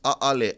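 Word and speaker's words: ʻaʻole: The Mana Olelo for today is Aole Hilina'i. So when you type in the word a'ole, no, not, never, to be none, to have none, commonly pronounced a'ale.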